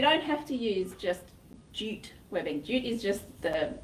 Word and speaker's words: jute: Yeah, well, it's spelled J-U-T-E, and I always wonder if it's ute or jute, but I think it's jute. No, it's jute. Yeah, okay. You pronounce the J.